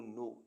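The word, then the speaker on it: know: knife knife मीस चाकू के एन ओ डब्लू नो नो मीस जानना के एन आई जी एच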